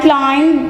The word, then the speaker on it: climbed: And climbed the topmost steeple. Class, note down the pronunciation of word climb here. We pronounce it climbed. B is silent here.